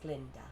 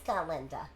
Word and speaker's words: Galinda: Although some of us still tend to favor form over content, Miss Glinda. It's Galinda.